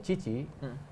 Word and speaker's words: Tite: Nah di bawah si Cici, Tite itu dibaca Cici ternyata di Brasil.